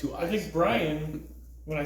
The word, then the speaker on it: Brian: the other day bro the name Brian two syllables that's Brian no it's not have you ever said Ryan Brian Brian right it's not Brian isn't it no kind it is where I am no there's Brian Brian yeah I believe there's an Irish name Brian and Brian might have derived from that but it's definitely two syllables my uh my Italian